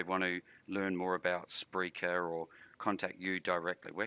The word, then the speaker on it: Spreaker: that Rob Greenlee comm and I do the Spreaker live show it's Freaker live show calm and that's spelled with an r Spreaker Spreaker live show